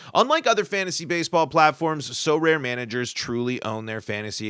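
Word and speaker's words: Sorare: our new sponsor and it's pronounced so rare just want to make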